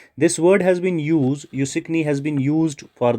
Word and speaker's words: Asikni: यूसिकनी इट is written as ASIKNI। The pronunciation is यूसिकनी।